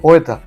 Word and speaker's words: poeta: sílabas de un hiato la palabra poeta tiene un hiato la o y la e forman un hiato Porque son dos vocales abiertas en realidad tienen tres sílabas una palabra de tres sílabas pero en algunos versos